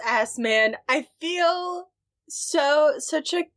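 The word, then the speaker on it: Assmann: SS M A NN how else do you pronounce that it's assman it's assman I feel so such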